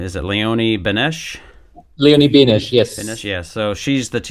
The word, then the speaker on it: Benesch: out, and the character, help me if I'm mispronouncing her name, is it Leonie Benesch? Leonie Benesch, yes.